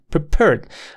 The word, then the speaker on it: prepared: muy nítida W with prepared la sílaba tónica está en la última pair paed we prepared this this